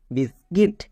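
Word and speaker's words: biscuit: অফসিকার sound হবে যেমন বি আই এস বিস সি ইউ আই টি কিট বিস্কিট এই ওয়ার্ড টিকে উচ্চারণ করতে গিয়ে 99% লোক ভুল উচ্চারণ করে।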